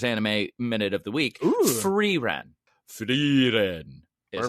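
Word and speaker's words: Frieren: Freiren is how they say pronunciation.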